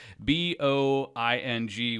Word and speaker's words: Boeing: he came over, but it was Boing with 2 little dots over the O. That's the right way to say it.